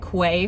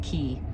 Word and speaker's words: Quay: And apparently it's Key, like K-E-Y, but it's spelled Q-U-A-Y.